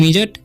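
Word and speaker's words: midget: और इसे पढ़ते हैं मिजट, मिजट मतलब बौना। यानी कि तीनों लेटर में डी साइलेंट है।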